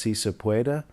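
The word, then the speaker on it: Sí se puede: I think it's pronounced Si Se Puede.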